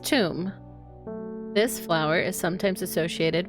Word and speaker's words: Thoom: This one's name is Thoom. Pronounced tomb.